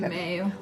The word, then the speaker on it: Mayo: como la clínica Mayo, que se dice Mayo en español, ¿cómo se dice en inglés? Mayo.